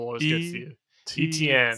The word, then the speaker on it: Etienne: God, it's the first syllable always gets to you. Etienne.